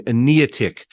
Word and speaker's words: Eneatych: Yeah, well, the word, which people are going to have trouble pronouncing, Eneatych, Enea means ninefold. Tick refers to set of consecutive parts, like a triptych or a diptych in painting.